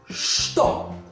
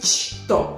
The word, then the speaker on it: что: Что. No decimos chto, es что. Что у тебя.